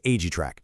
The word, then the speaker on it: aGiTrack: That's pronounced Agra.